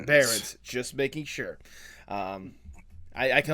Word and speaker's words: Barrens: How do you pronounce your last name? Barrens.